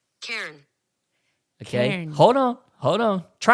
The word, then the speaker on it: Cairn: go and I said how do you pronounce c-a-i-r-n y'all gotta hear this this is awesome so listen to this Karen okay hold on hold